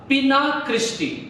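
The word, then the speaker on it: Spina Christi: है इन कांटों का पिना क्रिस्टी। पिना क्रिस्टी नाम के ये कांटे हैं और इसका इंग्लिश में स्पेलिंग ऐसा है, S जो है वो साइलेंट है, PINA, पिना, और क्रिस्टी CHRISTY, क्रिस्टी। ये जो पिना क्रिस्टी नाम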